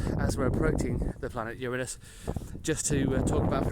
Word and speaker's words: Uranus: However, I've learned as an adult that the Greek god, after whom the planet is named, is in Greek called Uranus, which to a Western ear sounds much closer to Uranus than to Uranus. So that's why I now say Uranus.